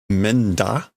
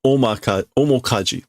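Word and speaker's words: 面舵: Menda? I don't know how to pronounce this. No, omokaji.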